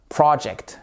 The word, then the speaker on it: project: He came up with a great idea for the project. For. Et pas for. C'est pas for, hein, c'est for. For the project. Project. Accent tonique ici sur la première partie du mot.